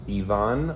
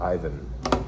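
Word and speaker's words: Iván: Uh Yvon or Ivan? I believe it's Ivon Rodriguez.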